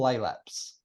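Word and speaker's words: Tropilaelaps: mind too so tropical laylap smites I encourage you to pronounce that triple laylapse say it to yourself tropical a lab so now you've said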